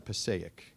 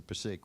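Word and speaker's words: Passaic: a river in New Jersey it's called the Pake River you know it's the way I pronounced it it's properly pronounced the pic but when you come from New Jersey you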